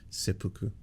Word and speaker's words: seppuku: SE seu oh it's it's way more soft than everyone in the chats was saying people were like it's it's pronounced seu all all caps I was like it's probably way way softer seppuku like that um yes